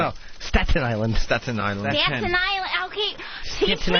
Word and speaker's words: Staten Island: Staten Island. Okay. Teach me how to say it, Jimmy. Staten Island. Staten Island. Staten Island. Staten Island. Yeah, Staten Island. Staten Island. Yeah. My tongue goes the other way.